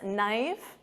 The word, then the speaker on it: knife: And of course, silent K on this, knife.